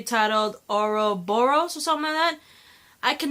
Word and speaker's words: Ouroboros: 2 episode 3 titled Ouroboros or something man I can never pronounce the name it's oh you are oh Bo r OS Ouroboros know many way um